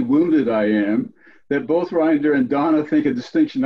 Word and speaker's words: Reinder: Reinder. Some people pronounce it reindeer, but I take exception to that.